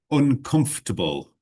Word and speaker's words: uncomfortable: Uncomfortable, uncomfortable. Sometimes people overpronounce it. They sort of say uncomfortable. We don't really need to say for. We can just say uncomfortable or uncomfortable. These are both fine, okay?